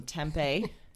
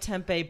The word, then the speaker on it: tempeh: tempeh okay good question like the city in arizona yes yes i put the whole city of arizona into my pan one point it is spelled like tempeh but with an h at the end oh tempeh is a